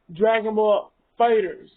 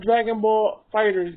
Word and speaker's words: Dragon Ball FighterZ: people who play fighters it is pronounced dragon ball fighters not dragon ball fighterz g because the last